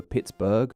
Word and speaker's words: Pittsburgh: at this time but from various spellings the city could have been referred to as either Pittsburgh or Pittsburgh when said out loud eventually for some reason the burg pronunciation went out maybe because it was the name used on that copy which most people saw yeah this city might have ended up being called pittsbur to this day if it wasn't for